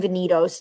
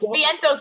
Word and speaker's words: Vientos: I call him Vinitos 97% of the time because my brain will not allow me to say it the right way. I don't know if I'm just hanging out with Pop Pop too much so now I'm just like mispronouncing everyone's name. Yeah that's probably it. But That Vientos is pretty straightforward.